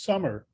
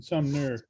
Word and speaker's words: Sumner: my driver's license and my name sumner is always not always but frequently mispronounced is summer rather than some nerve and i i i